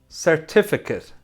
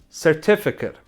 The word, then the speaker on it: certificate: Certificate. It's a noun. And he's extremely passionate about the business. Passionate. Passionate. It's an adjective. So nouns and adjectives that end with ATE are pronounced it at the end.